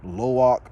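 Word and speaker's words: Lo'ak: all of Jake and the Terry's children um lowak and that's how you say his name uh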